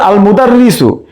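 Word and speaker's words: المدرس: এরপর আল মুদাররিসু, এখানে আলিফ লামের লাম উচ্চারণ হচ্ছে, তাহলে আল মুদাররিসুর মিম হচ্ছে হুরুফুস শামসিয়া, হুরুফুল কামারিয়া।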